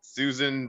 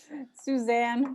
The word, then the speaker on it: Suzanne: So I asked you who the Goliath was to your David, and you said Susan Bonamici. You didn't say it like that. Suzanne Bonamici.